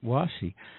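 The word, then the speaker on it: 和紙: Did I pronounce it right? Washi. You did. Washi.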